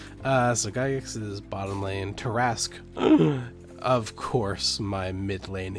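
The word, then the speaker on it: Tarrasque: Tarask. Of course, my mid lane is a Tarask. It's not how it's spelt, but Tarask is a D&D monster.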